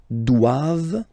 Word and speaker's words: doivent: All right, and then the last one, ils doivent. So same thing, classic ending for the plural form, ENT here. Okay, but then you don't pronounce it.